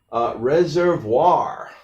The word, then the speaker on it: reservoir: Reservoir. Okay. All right, this is the example of R. We do pronounce the R at the end.